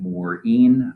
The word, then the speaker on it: Morean: history i am mourin yes i pronounce my last name morin i use he him